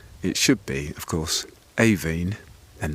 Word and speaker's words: Aibhín: should be of course aen and not iin as I think we were all saying so you'll be hearing Rebecca Manley and John Preble talking about a kite for aen by sheam missini the